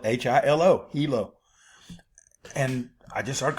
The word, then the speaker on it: Hilo: That's spelled H I L O.